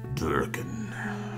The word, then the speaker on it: Durican: Durican. Rhymes with shuriken.